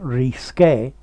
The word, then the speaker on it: risqué: our writing notice question does it have an accent on the last e well certainly we pronounce the accent risque so the k at the end is showing the accent and i think you